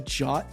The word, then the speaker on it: JWT: to a Game Dev it's pronounced a jot token is it now good